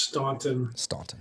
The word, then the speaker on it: Staunton: yes so uh it is it is officially pronounced staunton but um yeah it was it was uh